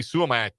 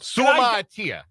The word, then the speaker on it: Suamataia: But the other big concern was the benching of Kingsley Suamataia. How can I not pronounce his name right?